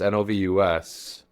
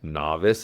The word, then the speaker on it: Novus: with the word Novus, N-O-V-U-S, on these tank tops and crew necks. And we had looked up the Latin root for fresh, and we read N-O-V-U-S as novice. It should be pronounced novus, but we read it wrong from the beginning.